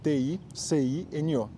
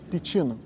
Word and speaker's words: Ticino: Porque titino, se tu não sabe, se escreve T i c i n o. Só que não se lê ticino, se fala titino, porque em italiano aquele c tem som de ti. Então é titino.